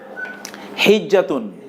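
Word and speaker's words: الحجاز: হিজাজ মানে হচ্ছে বছর সমূহ। আমাদের হিজাজ বলি না ওইটা হিজাজ, ওইটা আবার উচ্চারণ ভিন্ন। হেজাজ, হেজাজ একটা অঞ্চলের নাম, হেজাজ।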